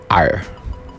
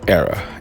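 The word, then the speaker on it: Éire: free state was renamed ire it's actually pronounced era an era remained neutral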